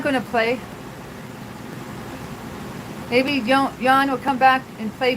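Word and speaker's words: Jean: His name is Yan. Sorry. Yan. Yan. It's spelled J E A N. But he's from the Netherlands, so you pronounce it Yan.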